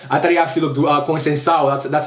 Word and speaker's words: Conceição: I thought when Conceição came in, or Concentrao, I thought he actually looked Conceição. That's how you pronounce it.